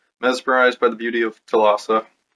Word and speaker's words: Thalassa: Mesmerized by the beauty of Thalassa, I might be pronouncing that differently than some people. It's Thalassa.